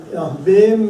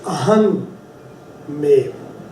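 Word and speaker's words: ਅਹੰਮੇਵ: Pronunciation wise, I didn't say aham mev. If the word was just aham, which also stands for hankar, ego, then you say ahang. But when you actually put the two together, aham mev, it is pronounced ahmev.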